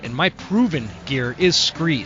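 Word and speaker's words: Skre: And my favorite and my proven gear is Scree. Scree is spelled S-K-R-E.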